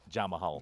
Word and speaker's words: Jamahal: Yeah, it's Jamahal. Jamahal. Especially when you look at the spelling, you're like, oh wait, that's not This Jamal.